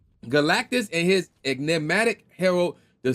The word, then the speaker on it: Galactus: I can't talk why am I I cannot pronounce this dude's name for some OD reason uh galatis there it is like I don't know why I was struggling to pronounce his name Galactus and his enigmatic heral the silver suffer and